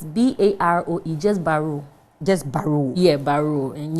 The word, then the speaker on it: Baroe: but librarians they say it by rule it's pronounced name it's b-a-r-o it just baru just baruch yeah baru and yeah what kind